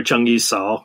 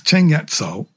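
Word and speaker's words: 鄭一嫂: You use the Cantonese pronunciation in your book. You don't call her Zheng Yi Cao. No, she's Cheng Yat Cao.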